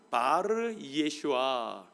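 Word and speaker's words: בר ישוע: 바르 예슈아. 히브리 발음으로는 그렇게 하는데, 히브리 말의 바르라는 말은 누구누구의 아들, 누구누구의 자녀, 뭐 그런 뜻입니다.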